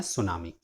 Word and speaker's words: tsunami: ये एक Japanese word है और इसमें टी साइलेंट होता है, सो इसका प्रोनाउंसिएशन है सुनामी। इस चैप्टर में हम उन